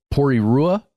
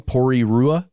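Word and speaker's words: Porirua: uh small city called pory Rua I think that's how you would say it forgive me if I'm wrong pory Rua let's spell it P o r i r UA yes that is correct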